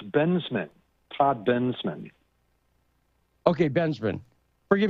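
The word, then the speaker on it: Bensman: i'm going to screw it up sure it's bensmid todd benson okay benjamin forgive me it's easy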